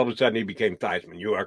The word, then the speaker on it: Theismann: Joe Theismann changed it to rhyme with Heisman, but he didn't win the Heisman.